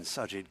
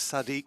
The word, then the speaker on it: Sajid: but uh I made I have mispronounced him a couple of weeks ago but I briefly referred to him as in the same way as the mayor of London I got confused Sadiq with Sajid I don't know whether